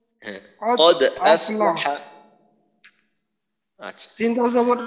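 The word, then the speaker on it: قد أفلح: আচ্ছা দালের উচ্চারণটা কোনোভাবেই যেন ওকারের মতো না হয়, যেমন আমাদের এই একামতের মাঝে বলে না কদ ক, কদ কদ, তো এখানে যেন কদ কদ ক ধরনের কদ হয়ে না।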